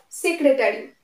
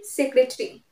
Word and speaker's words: secretary: not be pronounced next secretary secretary but secretary it achieved full pronunciation it will be secretary secretary not secretary here also a will not be pronounced secretary temperature temperature not